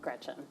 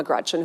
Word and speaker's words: Gretch: named after my grandma Gretchen who I adore. It's funny though because she always said never let anyone shorten your name. Don't let people call you Gretch because it rhymes with wretch.